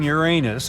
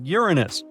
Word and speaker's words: Uranus: we've been miss calling Uranus all this time actually astronomers say we should be pronouncing it like Uranus not Uranus I can't say a different stress changes much though however things could